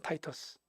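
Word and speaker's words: Titus: 에대 70년 내 로마의 이제 디도장군 타이토스 영어식 발음은 타이토스.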